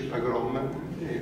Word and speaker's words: pogrom: Ecco, lì ci fu il primo pogrom, che mi hanno detto che si dice pogrom. Questa sarebbe l'esatta pronuncia, ma meglio dire pogrom, se no nessuno capisce.